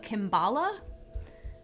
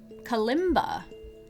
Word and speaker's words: Kalimba: koshy Bells this is a kimbala is that how you say it Kalimba Kalimba it's from uh